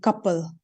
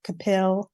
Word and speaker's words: Kapil: own first name but my father's side would pronounce the last name couple but that's how I've been saying it yeah that's one or capill or however my mom